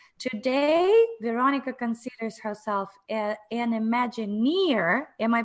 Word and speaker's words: Imagineer: Today, Veronica considers herself an Imagineer. Am I pronouncing it correctly?